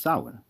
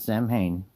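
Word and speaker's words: Samhain: It's pronounced sin, not Sam Hayne.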